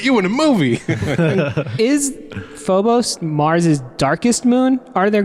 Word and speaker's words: Phobos: Phobus. Phobos. And I was like, "Dude, get it right. You're a Marine." I know. They couldn't get Phobos right at all.